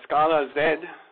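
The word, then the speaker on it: Scalaz: part here briefly uh Scala Zed as they pronounce it and this is a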